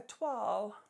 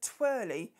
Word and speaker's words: toile: Question 8, what is a toile? That is the correct pronunciation by an English person, not as someone I used to work with, a twirly.